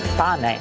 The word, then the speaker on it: pane: Pane.